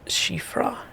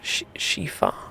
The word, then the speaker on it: Siofra: or Irish spellings like siofra river which is sh sh shifra shifa I can't remember but there's a lot